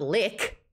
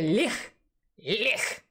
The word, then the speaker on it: lich: gif in the discord lich i'm saying it like i'm german not lick i say lich not lish lich lich [ __